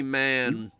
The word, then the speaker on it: Mahan: as I know, Barry Mahan only did the fairy tale segments. Barry Man. Who's Barry Man? That's how Barry it's pronounced. Man. Barry Man. Yeah, it's like Vince McMahon.